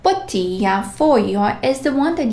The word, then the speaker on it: bottiglia: And G plus L. GL. Here, we don't sound and we don't pronounce G as we are used to, like G or J. It's almost silent. Well, it's not even silent. G plus L has a very different pronunciation.